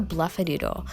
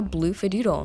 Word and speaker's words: Bloofadoodle: It was a really silly mistake, and it was really obvious that it was the Bloofadoodle, not the Bluffadoodle.